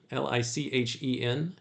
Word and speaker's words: lichen: But it was only the rock itself, scraped clean of every speck of dust and fiber of lichen, l i c h e n, and polished by the continued activity of this famished creature.